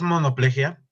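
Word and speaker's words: monoplejía: caso profe no es monoplegia monoplegia Sí porque lleva acento en la i eh lleva acento en la i Sí no es sin acento es monoplegia Sí pero lleva una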